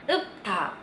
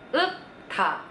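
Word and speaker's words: 읊다: Yang pa-nya ya, jangan yang R-nya. Jadi kata ini dibacanya upta, upta.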